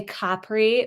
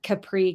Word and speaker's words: Capri: I think you do sound a bit sort of um stuck up if you say Capri, but that is the correct pronunciation. I have no idea where Capri came from, the Americanization of it, but maybe from the Frank Sinatra song.